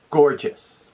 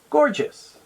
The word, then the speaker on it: gorgeous: stress is for gorgeous the answer is the first syllable g-o-r scored let's try it together repeat after me gorgeous gorgeous here's a sentence example